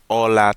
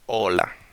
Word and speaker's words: hola: We say hola because in Spanish the H is in silent. It doesn't exist.